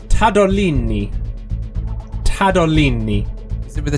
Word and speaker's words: Tadolini: Can you spell that out? Because I couldn't tell whether you were saying tad or cad. I certainly can spell it out. T-A-D T-A-D-O-L-I-N-I. Tadolini. I'm going to say that is neither.